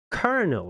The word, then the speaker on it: colonel: 1935 film The Little colonel is how I would say it in Dutch. But I think if you pronounce it in American English, you say kernel, right? Or something like that.